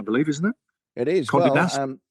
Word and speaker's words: Condé Nast: Condé Nast. Condé Nast, that's how you pronounce it.